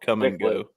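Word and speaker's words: Kum & Go: We have a gas station chain in the Midwest called Come and Go. Come and go. As a C-U-M? Yeah. No. No, it's K-U-M is actually how it's spelled.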